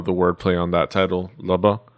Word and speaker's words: Lubba: If you kind of wanted to know the wordplay on that title, Lubba is how you pronounce it.